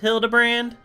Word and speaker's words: Hildibrand: Uh, it's pronounced Hildabbrand.